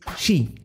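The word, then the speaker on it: 四: Su pronunciación en mandarín es Xi, lo que se parece mucho a Xixi, que significa muerte.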